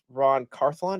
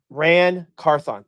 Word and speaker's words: Ran Carthon: firing of Mike Vrabel to the firing of Ron Carth.